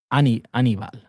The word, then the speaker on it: Aníbal: It's Aníbal. Yeah, it is Aníbal. The acentos on the I.